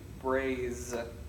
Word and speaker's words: braise: Exactly, braise with the z, braise, and braising is a cooking method that you can use.